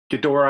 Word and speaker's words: Ghidorah: And then along those lines, so here's Red Dragon, gonna make like a, what is it, Ghidorah?